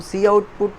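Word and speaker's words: cout: फिर हमारे पास आउटपुट, अब हम सी आउट को प्रोनाउंस ही सी आउट करते हैं, COT, ठीक है, इसको प्रोनाउंस करना है सी आउट।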